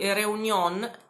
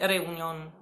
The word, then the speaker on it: Réunion: un viaggio nell'isola di Réunion. Allora, l'accento è sulla E, quindi forse potrebbe essere Réunion, ma io l'ho sentito sempre pronunciare Réunion alla francese.